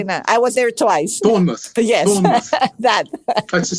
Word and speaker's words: Bournemouth: cannot even say that I was there twice Bournemouth yes Bournemouth that that's a seaside yeah Bournemouth